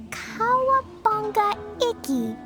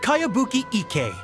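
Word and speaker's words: Kayabuki Ikku: one i've never heard of it by cowabunga icky this is a really strange name who's this cowabunga it's pronounced kayabuki ek that would be me outlander brigade is a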